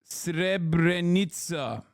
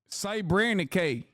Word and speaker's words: Srebrenica: that Israel does not recognize the events in Srebrenica as a genocide because it belittles the term, pronounced Srebrenica. Srebrenica.